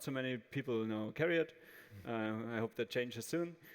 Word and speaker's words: CARIAD: Yes, and CARIAD was the right pronunciation, so Lukas would start with some words about CARIAD and what we do.